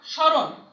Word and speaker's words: স্মরণ: স্মরণ, স্মরণের ম উচ্চারিত হচ্ছে না, অনুচ্চারিত থাকছে বলেই এই স্মরণ উপরে চন্দ্রবিন্দু হচ্ছে। অনুরূপভাবে শ্মশান, অনুরূপভাবে মটা উচ্চারণ হচ্ছে না, এই জন্য সেই শব্দটির উচ্চারণ সানুনাসিক হচ্ছে।